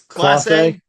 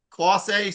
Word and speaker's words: Clase: It's Clase. Classe. Some. You see, I even pronounced it wrong there.